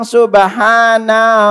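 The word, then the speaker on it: سبحان: Jadi bacanya itu pertama nunnya jangan dipanjangin. Jangan bilang subhana rabbiyal a'la. Ini keliru. Ikuti subhana. Subhana. Pakai huruf ha.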